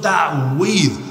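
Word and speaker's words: تعويذ: বলতে বাংলায় বলে তাবিজ মূল উচ্চারণ হল তাউজ তাউজ আইন সহকারী একটু জটিল উচ্চারণ তাইতো তাইজটা এসেছে মূলত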